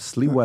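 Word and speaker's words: Sliwa: I always get his last name wrong. Right. Curtis Lewa.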